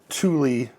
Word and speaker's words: Thule: is my very first Tuli product and I even had to ask how how do you say this Tuli you can kind of see it there Tuli Swedish brand uh I think they're